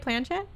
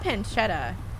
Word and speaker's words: planchette: to move around does that have a name planchet the joystick am i pronouncing that right planchette the condom jillian prey the game will stay kate planchette and shut up not pancetta okay i guess we're gonna